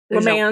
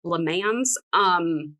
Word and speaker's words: Le Mans: There's no S. Okay. En Le Mans. En français. Le Mans. No S. Le Mans.